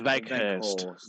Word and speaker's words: Weghorst: This one is for Weghorst. Is that how that's pronounced? Weghorst? Wout Veghorst. Veghorst. There you Yeah, go. love that. Veghorst.